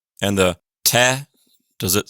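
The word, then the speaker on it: тэ: And the te, does it sound like an English T?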